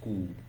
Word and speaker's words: coup: So some of you want to pronounce this as cool. You are wrong. This P is silent in this word, so it is cool.